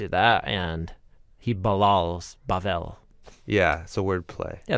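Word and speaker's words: בבל: Well, it's spelled with the Hebrew letter B or bait, but in certain pronunciation forms, you say it like a v instead of a b.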